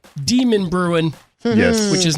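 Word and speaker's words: Demonbreun: years ago was well the d street right demon bruin yes which is not pronounced demon bruises and yeah that threw us off when we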